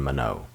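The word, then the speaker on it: Monod: and jack mono now these two scientists are french scientists so just go with the expression of their surnames as jacob and manau even though it may not look like they're pronounced that way these two scientists performed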